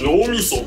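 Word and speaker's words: 脳みそ: You say Nomiso.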